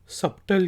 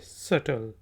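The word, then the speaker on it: subtle: सटल alarm set अर्थ इसको मैं भी बहुत ऐसे तो गलत पर नाज करता रहा सबटल कहता रहा लेकिन यह सटल इसका मतलब है ठीक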